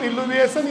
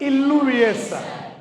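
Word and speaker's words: illuviation: direct भी कह सकते इसको आप जोन ऑफ इलविएशन या जोन ऑफ लीचिंग भी कह सकते हो नहीं b2 में जमा हो गया ना इसको बोलेंगे जोन ऑफ जमा जमावड़ा जमावड़े को बोलते हैं इलविएशन सपोट इसमें आई डबल एल आएगा स्पेलिंग में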